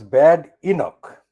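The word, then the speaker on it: Badenoch: Bad Enoch, we pronounce Bad Enoch, piles pressure on Sunak to quit ECHR.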